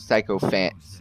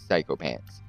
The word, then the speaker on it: Sycophants: It's spelled Sycophants, but it's Sycophants.